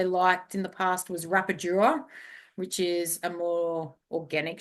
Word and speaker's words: rapadura: And the other one that I liked in the past was Rapadura, which is a more organic sugar. Rapadura. Okay. That's how it's pronounced.